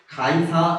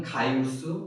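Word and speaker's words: Gaius: 1절을 보니까 가이사 아우구스토라 하는 어른이 한 명 등장합니다. 이 한국 이름은 가이사 아우구스토인데 본토 발음은 가이우스 아우구스투스입니다.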